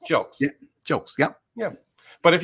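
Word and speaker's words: Jilks: hear it it's uh if you were to spell it g it looks like gilkeys yeah no that's not right it's j-i-l-x it's how it sounds jokes jokes yeah yeah but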